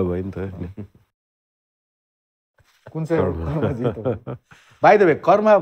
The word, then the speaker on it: Karma: Whatever I'm not going to say, go around saying everyone that so I, it's I'm basically karma. Karma. Karma. Yeah, karma. That's how the Tibetan we all pronounce right.